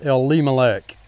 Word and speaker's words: Elimelech: bethlehem and that is elie malek elimelech it's pronounced elimelech el lima lek in his family then